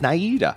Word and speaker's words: Naida: It was Nada. I think we accused her. As you said. Naida. As the internet is told. Google pronounced the name as Naida.